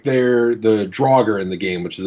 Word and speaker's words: Draugr: So, like, they're the Draugr in the game, which is a D&D reference. They initially misspoke and called it the Durger. And so that's canonically how it's pronounced in the game, is Durger.